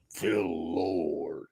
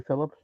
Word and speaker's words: Phil Lord: His name is Phil Lord. And that's how it has to be pronounced, please. Thank you very much. Wouldn't it be Philip? No. Phil Lord. He didn't name Phil. He named Phil Lord.